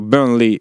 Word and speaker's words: Burnley: Burnle exactement avec l'accent mais bon, on est en France ici ou c'est pas très bien de dire ça y est mais je l'ai prononcé à la à la française. Il a fini CM de Burnley. Exactement. Allez, on va essayer de dire Burnley.